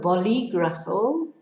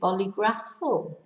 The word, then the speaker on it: bolígrafo: So, bolígrafo, on the I in the middle of the word to tell us to stress the penultimate syllable, otherwise it'd be bolígrafo.